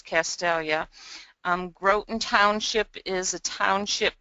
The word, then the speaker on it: Castalia: Bayview is also a village, but I wanted to point out how you pronounce Castalia.